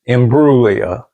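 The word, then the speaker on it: Imbruglia: They had to teach me to not say the G.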